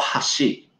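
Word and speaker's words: 箸: we hold when we call chopsticks it's called hashi but everything else that i'm going to share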